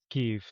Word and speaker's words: Kyiv: Kiev, I believe, is how you pronounce it. It's not Kiev, it's Yeah, Kiev. yeah, Kyiv.